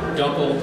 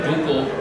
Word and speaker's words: Dunkel: And Dunkel, or Dunkel, correctly pronounced in German means dark, so it's a dark German lager.